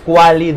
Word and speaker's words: Qualident: La Q y la A. Porque ya se pronuncia Qualident.